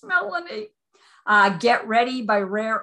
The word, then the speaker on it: Melanie: down by melanie or somebody once pronounced it mullany and i'm like hi it's melanie uh get ready by